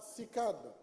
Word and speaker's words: CICAD: Je termine ce centre magnifique, édifié sur 58 hectares, miroir de Baobab qui s'appellera désormais Centre international de conférences Abdou Diouf, qu'on prononcera CICAD, s'il vous plaît.